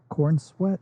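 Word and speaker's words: Corenswet: I was on board for this when the announcement was made for David Cornsweet. Is that how you pronounce it?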